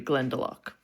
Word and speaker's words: Glendalough: from wa in australia glendalock did you say yes how to say this well yeah i would assume it's named after the irish counterpart which would be glendalough well big shout out